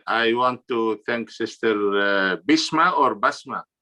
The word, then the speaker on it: Bisma: And I know that in the Arabic, it's more Basma. And, because my family's from Pakistan, they say Bisma. So it's spelled with an I instead of an A. Same, right? Huh? Same meaning, Basma. Yeah. Like Yes, same meaning. Just the pronunciation and spelling.